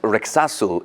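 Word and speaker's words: レクサス: Pronounced Rexasu in Japanese, the brand has built some stellar automobiles over the years, including the V10-powered LFA supercar.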